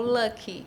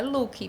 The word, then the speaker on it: Luck: Cris, é Luke ou Lucky? Lucky é sorte em inglês. Ela falou, é Luke, mas escreveram CK e parece Lucky em inglês, que é sorte.